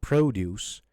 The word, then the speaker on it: produce: The first syllable. So produce is a noun. Produce is a verb because we're stressing the second part, juice part, okay?